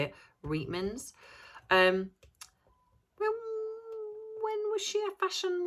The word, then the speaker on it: Reitman's: Reitman's.